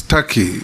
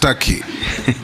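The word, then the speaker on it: Türkiye: It's Taki. It's only written T but it's pronounced Taki.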